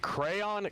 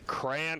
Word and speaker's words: crayon: you say it Lacoste is it crayon cran or crown crayon okay you got it right dude somebody hold